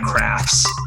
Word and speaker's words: KRHFT: great spot anyway sorry why why krhft for craft as your twitter brand and can we change